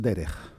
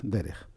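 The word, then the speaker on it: דרך: Una de ellas es derech, Dalet, Resh, Kaf, Sofit, derech.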